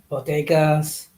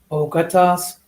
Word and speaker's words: bodegas: talking about, and then she mispronounced the word bodegas to say bogotas.